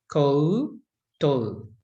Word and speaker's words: koutou: Now, the koto, you'll even hear me say, it doesn't sound like it's got a separate, you know, o, o. We kind of talk a bit quick, but actually the proper way to say it is koutou. Tēnā koutou katoa. But we say it quickly. So it's easy to miss that it's got those two vowels in it.